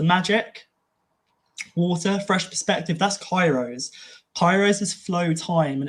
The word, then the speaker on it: Kairos: But they had another word, which was Kairos. Also, you could pronounce it Chi Rose.